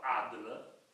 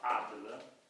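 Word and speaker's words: عدل: del Corano, la parola adl, ain, che è un termine, una l'italiano con difficoltà a pronunciare, che non si è una lettera che non esiste nelle lingue europee.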